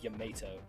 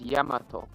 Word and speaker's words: Yamato: may cry 4 where they said yamato like a tomato is that virgil sword strong devil maker sure pretty sure if you want to say it properly it's yamato yeah yamato that that's how i say it and like dante says um gotta say it with a slight japanese accent and that's correct sorry right it will